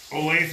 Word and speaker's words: Olathe: perfect example olafi corn is it olathe or olaf i never know olathe moleta olathe olathe there you go olathe corn at least that's how they pronounce it in kansas mini peppers these are